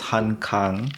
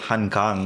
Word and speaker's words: Han Kang: last 2 months was Han Kang. Mhm. So, not to be confused with Han Kang, which is the Han River. Oh, it's the same. It is the same pronunciation.